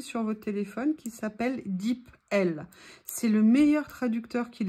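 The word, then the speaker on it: DeepL: votre téléphone qui s'appelle dip l c'est le meilleur traducteur qu'il existe ça s'écrit d e e P l comme la lettre L vous pouvez le télécharger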